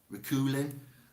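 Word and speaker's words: Reuchlin: this name r-e-u i can't say it i'll spell it r e u c h l i n rakulin the father of the reformation and teacher of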